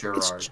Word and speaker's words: Gerard: Is it Gerard yeah, it's, or Gerard? It's Gerard. It's like Gerald, Jerry.